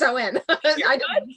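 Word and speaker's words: Samhain: Oh saw one that's Owen yes Owen is the correct pronunciation for All Hallows Eve oh no so for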